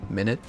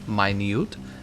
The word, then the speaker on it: minute: This word, it could mean, a duration of time, minute, or it could be pronounced this way, minute. And minute, it means a small amount.